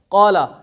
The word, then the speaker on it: قالا: قالا، اس کے ہجے کریں سب سے پہلے تو کیسے کریں گے؟ قاف الف زبر قا، لام زبر قالا.